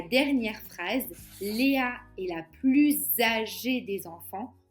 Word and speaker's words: plus: Et la dernière phrase, Léa est la plus âgée des enfants, on prononce Z car il y a une liaison entre plus et qui commence par une voyelle a.